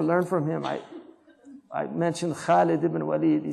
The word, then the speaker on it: خالد: You know, like say Khalid because don't say it like the Arabs say it now. Khalid. Say Khalid because it's حرف مفخمة.